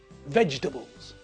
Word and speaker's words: vegetables: has got 3 syllables the word vegetable looks like it's got four syllables but listen to me when I say it vegetables can you hear it only got three syllables vegetables so vegetables is